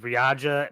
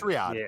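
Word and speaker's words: Riyadh: I know what the I know what the the the city that you're thinking of is Ria, but I think I'm butchering that pronunciation like I can butcher everything. Riad. It's Riad.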